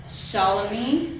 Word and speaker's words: Shalami: Shalami. Yes, ma'am. Awesome. Yeah, Perfect. you got it. Perfect pronunciation.